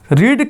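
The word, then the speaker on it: read: अच्छा, रीड का तीनों फॉर्म सेम होता है, लेकिन प्रोनाउंसिएशन अलग होता है। पहला फॉर्म रीड, दूसरा रेड होता है।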